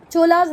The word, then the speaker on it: Chola: वैसे अगर हम एक्चुअल में बात करें तो ये चोलास नहीं है, ये चोल हैं, ये पल्लवास नहीं है, पल्लव हैं। क्लियर है? चलो छोड़ो इसको, चोलास बोलना है चोलास बोलो, पल्लवास बोलना है पल्लवास बोलो, पर स्पेलिंग याद रखना।